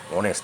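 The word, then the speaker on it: honest: এখানে হনেস্ট বলছি না, কিন্তু অনেস্ট বলছি, যার জন্যে এখানে অ্যানটা হচ্ছে।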